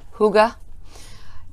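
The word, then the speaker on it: Hygge: I went with this red heart huga. H-Y-G-G-E, Red Heart, Huga, is how it's pronounced.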